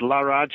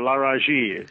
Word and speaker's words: Laraaji: that's that's very good it's an interactive name but laraj or lari works wonderful okay excellent so well